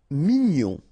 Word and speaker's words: mignon: Mignon, okay, here in that case, G-N-O-N, gnon, mignon.